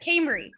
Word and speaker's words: Cambrie: each other all right camry is that how you pronounce it yes okay my name is cambrie i live in